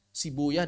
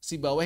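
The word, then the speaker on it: Sibawayh: Cuma kata ahli hadis, kata ahli hadis pelafalan yang paling tepatnya sibuyah dan rohuyah. Cuma kata ahli fikih yang paling tepat sibawa dan rahawai.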